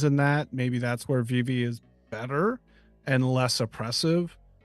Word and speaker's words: Vivi: He was the reason why we said his Vivi right, because remember it was like Vivi, and he's like, no, it's like VV.